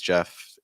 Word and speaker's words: Jeff: myself my name is Jeff it rhymes with breath which is one of